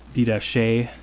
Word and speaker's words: Didache: earliest writings of the Catholic Church is the Didache, I believe is how it's pronounced.